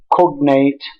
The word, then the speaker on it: cognate: it was found that words like cognate percolate germinate which are stressed on the first syllable were stressed by our